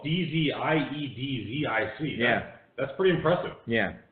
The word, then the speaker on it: Dziedzic: Dziedzic. Yeah. His name is spelled D-Z-I-E-D-Z-I-C.